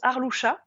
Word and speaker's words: Arlusia: Alors mon prénom se prononce Arloucha, Oui, mais il s'écrit Arlusia.